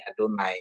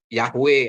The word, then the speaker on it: Adonai: menemukan ini nah ini mereka tulis seperti ini adonai jadi bacanya ini adonai gitu Ya bukan yihy gitu atau yahwe atau Yehova tapi yang benar adonai gitu artinya Tuhanku tuanku